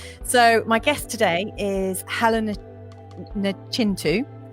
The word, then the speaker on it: Helen Nachintu: health and wellness so my guest today is Helena chin - I just want to make sure I pronounced that right did I get it right